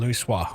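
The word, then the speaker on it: Louisoix: That's her pronunciation, Louis Soir.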